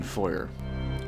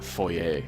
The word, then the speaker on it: foyer: then we've got the police station foyer or Foe a depending on what way you want to pronounce it a pretty iconic setting